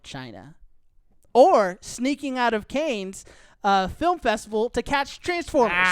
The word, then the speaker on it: Cannes: So you're both pronouncing it wrong. It's Cannes. It's the Cannes Film Festival.